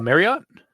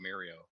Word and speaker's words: Marriott: How do you pronounce that? Marriott. Oh, I didn't hear the T. I thought you just called it Mario.